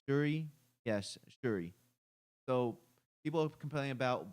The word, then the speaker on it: Shuri: But anyways, so people are complaining about Black Panther being how do you pronounce his name? Shuri? Yes, Shuri.